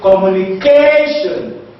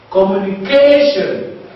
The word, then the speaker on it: communication: what is spr there is K so we pronounce it communication communication now in the second example we have Ovation